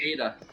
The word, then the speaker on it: Ada: How do you pronounce that? I'm seeing someone say A. Oh, the spelling in the chat. ADDA. Ada.